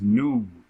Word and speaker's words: Nun: It says Nun, right? Nun, that's how you say his name, right?